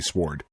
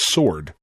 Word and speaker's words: sword: I do know that it is sword. However, I just think it's much funnier to say sword.